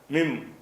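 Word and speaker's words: من: பேங்கிற எழுத்து வந்துருச்சுன்னு சொன்னால் அந்த இன் என்பதை வந்து இம்முன்னு படிச்சிடணும். மின் என்று சொல்லக்கூடாது, மிம். மின் என்று சொல்லாமல் இப்படி சொல்லணும், மிம்னு சொல்லணும்.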